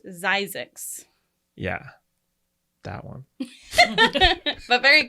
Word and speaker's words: Zzyzx: It's actually pronounced Zizix, Yeah.